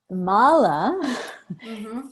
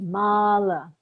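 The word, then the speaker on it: mālā: our teacher taught us Mala versus Mala so that's why the pronunciation in the written word is so key that makes sense to you yeah so Mala beads have the line over the a that's right because it's a long a Mala versus you know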